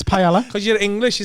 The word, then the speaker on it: paella: It's paella. Because you're English, you say paella.